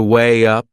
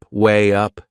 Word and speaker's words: weigh up: before making a decision there is another linking sound in that phrase to way up way up can you hear it we insert a little why sound my next word is